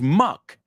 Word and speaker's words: muck: The second word is muck. It rhymes with cluck. That's what a chicken does. It rhymes with tuck, meter algo, right? To tuck in your shirt.